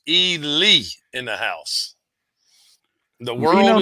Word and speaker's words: Ely: Pronounced Ely in the house.